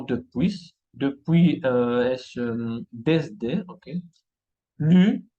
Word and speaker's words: depuis: Acá son los pronombres personales, no se pronuncian la S. Palabras como repas, la comida, repas, y no repas. Depuis, y no depuis.